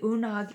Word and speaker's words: Una: Now, the Unag easy does it. The pronunciation of this is Una. Okay, so the pronunciation here is Una, and she was a Celtic goddess.